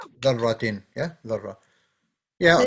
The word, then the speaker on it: ذرة: said, you it's pronounced darra, okay. ذرة. Yeah, ذرة. Yeah, So it it's means not pronounced particle. darra, it's darra.